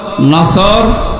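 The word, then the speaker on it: نصر: নাসর মানে ইগল পাখি এজন্য তেলাওয়াত যখন করবেন উচ্চারণটা গোল করা লাগে আল্লাহ পাক জানিয়েছেন যখন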